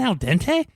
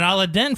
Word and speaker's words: al dente: not mushy i'm like do you mean al dente and she goes is that how you say it and i'm like yeah that's it she goes i've been saying it all at den for forever i'm like that's not right i i don't know